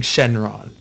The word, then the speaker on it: Shenron: Which, for some reason, I have a really hard time pronouncing Shenron. Because I keep either wanting to say Chevron or Sharon. Because it's like a combination of Chevron and Sharon.